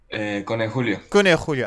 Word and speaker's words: Cone Julio: it Cone Julio or is it Cone Julio? Cone Julio. I had it right the first time. Good. Yeah, you had it right. Awesome. Nice Spanish pronunciation.